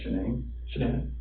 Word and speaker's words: Shanann: And I don't want to pronounce her name wrong, Shanann.